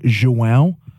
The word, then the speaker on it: João: Joao with a little. Oh, Joao. Joao. It's a Portuguese name. I think you can also pronounce it like João.